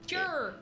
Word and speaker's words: Tyr: So, Tyr is spelled T-Y-R. For Yeah. Is everyone it? to know, yes. Yeah. Like her. Tur.